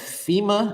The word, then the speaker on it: FEMA: what I'm saying if FEMA that's how you say it FEMA don't have the funds